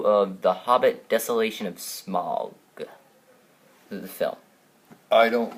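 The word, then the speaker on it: Smaug: in our heads when we read the book it was smog I don't know SM I don't yeah I don't know anyone who pronounced it smow but I guess Peter Jackson thought you should pronounce it smile cuz I thought the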